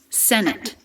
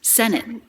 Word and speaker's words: senate: of error if i said that with a true t it would sound like this senate do you hear the difference senate but instead it's senate that might sound to you like the t is dropped but it's not totally dropped because we do stop the air senate it it and